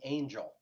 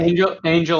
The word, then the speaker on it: Engel: First of all, why would you know that Engel pronounces her name Angel? You wouldn't, right? Angel, I'm sorry.